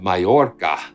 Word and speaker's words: Mallorca: So, um, it's so good to see you from the beautiful island of Mayorca. That's that's extraordinary. Did I pronounce it correctly?